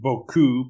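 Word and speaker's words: beaucoup: movie and usually are note the word boku pronounced that way boku is french for a lot to keep track of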